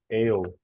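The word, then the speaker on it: aisle: strange English you don't pronounce the S so it just ale SW ale imagine imagine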